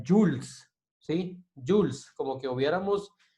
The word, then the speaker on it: joules: acá, pero se pronuncia Jules, ¿sí? Jules, como que hubiéramos la O y la E, Jules. Se escribe Joules, se abrevia como J y se pronuncia Jules.